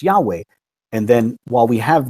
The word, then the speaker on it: Yahweh: in ancient times and he wound up with this ancient pronunciation Yahweh and I think that's very